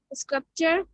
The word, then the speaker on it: sculpture: difficult words to say the p is not silent but is pronounced sculpture sculptor sculpt in all